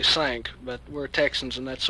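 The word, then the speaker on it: Cinq: uh C NQ is French for five it's pronounced actually sank but we're Texans and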